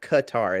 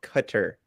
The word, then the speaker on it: Qatar: it like the the it's not Qatar it's like Qatar I promise I've listened to the pronunciation like a couple times on Wikipedia uh versus Ecuador both